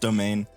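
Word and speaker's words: demesne: ability or domain it's it's spelled funny it's a French word I think but it's pronounced domain uh which allows him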